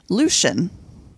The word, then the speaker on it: Lucien: Like, it's actually, there's an extra syllable. It's going to be Lucien.